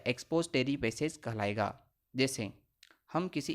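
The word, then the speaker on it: expository: एक्सपोजिटरी passage, इसके उच्चारण में काफ़ी विषमताएं पाई जाती हैं, कोई इसे एक्सपोजरी पैसेज कहते हैं परंतु इसका नाम है एक्सपोजिटरी पैसेज।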